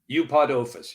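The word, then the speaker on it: Eupodophis: Eupodophus.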